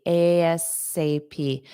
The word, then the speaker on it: ASAP: Alternatively, sometimes you will hear native speakers say ASAP. So A, and then they're pronouncing SAP as the word sap, ASAP, ASAP. It's possible, but it's more common ASAP.